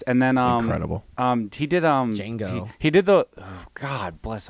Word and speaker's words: Django: Joe, I was gonna say it's kind of between Inglorious Bastards, Django, and those two movies. The D is silent. Say it better. Yeah. Django. I'm There sorry.